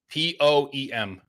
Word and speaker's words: poem: ready yeah I'm ready p o e m poem right that's how you're supposed to say it a poem she says poem poem no it's poem it's poem it's a two syllable word yeah I have a